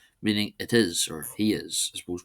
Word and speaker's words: is: Next we move on to the copula uh or is not is it's pronounced is despite the spell being spelled the same as English it means it roughly means its.